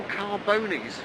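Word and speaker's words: Carbones: he calls his channel Carbonies, and it's spelt car bones, you know, like the bones of a car, but he reckons it's Carbonies.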